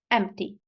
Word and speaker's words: empty: the final one is empty empty fantastic now the sound is ah not a not a a a exactly that's the sound so we say concert